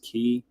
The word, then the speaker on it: Quay: our Quay token here I guess this pronounced key anyway um anyway GIF GIF